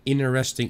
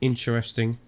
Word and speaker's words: interesting: I never really understood why people are saying interesting instead of interesting, because there is a T that you should pronounce, not a silent T.